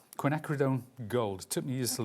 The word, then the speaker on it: quinacridone: This is called quinacridone gold.